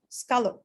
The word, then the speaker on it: scallop: you remember that yes look at it over here it's right here in the phonetic script okay so the phonetic script tells us scala okay and uh the